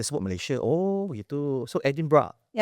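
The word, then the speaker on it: Edinburgh: Kalau pronunciationnya kalau orang yang study ataupun orang lokal yang akan sebut Edin Bra. Edin Bra. Walaupun spellingnya tu macam Edinburg kan.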